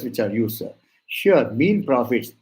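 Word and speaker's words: mesne profits: are used sir sure mean prophets it's not mes prophets most of the people pronounce it as mes prophets no it is mean Prophet s is silent mean profits is there are three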